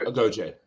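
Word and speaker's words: Agojie: Was that how it's pronounced? Yeah, that's right. Agoge. Right. Agoge.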